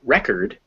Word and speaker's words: record: So, for example, cord is pronounced with that or sound, cord. But if we make it record, the o becomes a schwa because it's out of the stress position. So, cord, record.